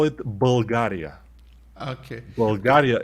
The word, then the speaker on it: Bulgaria: Bulgaria, and our R is very harsh. I mean, Bulgaria. Not Bulgaria or Bulgaria or something, but it doesn't matter.